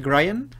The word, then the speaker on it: Grian: He de decir que el diseño en el que me basé es de un youtuber inglés llamado The Grian. Creo que es The Grian. Así se pronuncia.